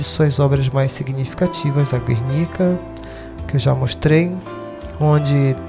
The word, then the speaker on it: Guernica: Então, ele se filiou ao Partido Comunista e realizou uma de suas obras mais significativas, que foi a Guernica, se pronuncia assim, Guernica, em 1907, onde retratou essa obra aqui, ó.